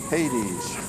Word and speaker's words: Haidees: look man look at him now oh buddy Hades it's spelled h-a-i-d-e-e-s and um oh he's he's just